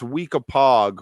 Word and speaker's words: Weekapaug: But yeah, Michael, in Maryland, it's Weekapaug with a hard G. I don't know about the rest of the country, but that's how we do things in Maryland. You hard G it.